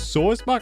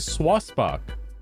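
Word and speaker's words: Sawsbuck: It's Sorsbuck. Oh my god. It's Sorsbuck. I was saying swasbuck.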